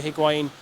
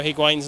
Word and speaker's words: Higuain: We know that Chelsea are interested in Gonzalo Higuain. They're willing to kind of trade Alvaro Morata for him. Is Higuain how you say it then?